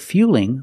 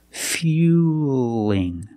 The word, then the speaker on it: fueling: Now, we see the word fueling with the L between vowels. So, it's a light L. Now, it's a little different. fueling. Not fueling, but fueling.